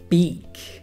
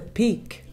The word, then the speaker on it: beak: Pico en inglés es a beak. A beak. Beak, not a peak. No. Es con B, ¿no? Con B. Beak. Beak.